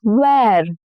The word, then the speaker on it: where: Next is where. Where, again, the E-R-E here rhymes with air.